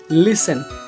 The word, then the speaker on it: listen: जैसे often OFTEN, लिसन LISTEN। ठीक है, ये सभी शब्दों में रूल्स लागू नहीं होते। जैसे 10 में तो ऐसा नहीं है, लेकिन ऑफन लिसन में ये EN से पहले साइलेंट होता है।